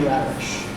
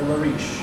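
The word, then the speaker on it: Larisch: The second half of this verse paragraph is entirely in the voice of a woman named Marie Lariche. Or Lariche, I think is how it's pronounced.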